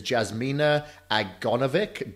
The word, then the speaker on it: Jasmina Aganovic: let me see if I can get the pronunciation right is Jasmina agra Novick did I do that right you got it